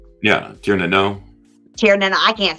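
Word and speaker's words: Tír na nÓg: And the Tir na Nog, the people from Tir na Nog. Yeah, Tir na Nog. Tir na Nog, I can't say it right. I'm from Texas. It's the Nog is actually pronounced no.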